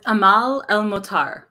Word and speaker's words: Amal El-Mohtar: It's Amal El-Mohtar.